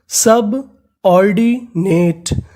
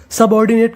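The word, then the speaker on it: subordinate: अगर आपको इंग्लिश की किसी भी मीनिंग के आखिर में ई लिखा मिले तो हमें ई का उच्चारण नहीं करना, याद रखिएगा। तो पूरी मीनिंग सब ऑर्डिनेट, सबऑर्डिनेट का मतलब होता है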